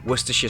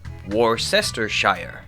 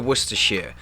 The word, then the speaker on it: Worcestershire: can explain you know there are three syllables to Worcestershire and you know all have been kind of squashed down from what's written that's pretty common fur